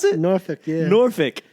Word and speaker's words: Norfolk: Norfolk, yeah. Norfolk. Actually, if you're really Southern, you say Norfolk.